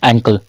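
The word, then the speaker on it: ankle: क्या बोलते हैं टकना एंकल क्या एंकल अंकल नहीं अंकल नहीं अंकल में य होता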